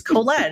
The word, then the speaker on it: Colette: I never understand that I'm like it's Colette it's a it's a French name have you ever heard